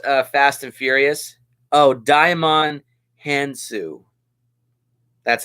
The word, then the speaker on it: Djimon Hounsou: Oh, Djimon Hounsou. That's how you pronounce it.